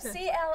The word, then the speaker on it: Clairvaux: It's a French pronunciation, so you might have to look for it a little bit. Yeah. But comes right up, C-L-A-I-R-V-A-U-X, if that's you're wondering.